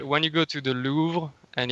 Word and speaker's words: Louvre: yeah, Hey, how do you pronounce it? Is it because I heard people saying it's the Louvre, and then the Louvre. Yeah, the Louvre. Louvre, Louvre, Yeah, like crêpe, crêpe, crêpe, Louvre. Yes, exactly.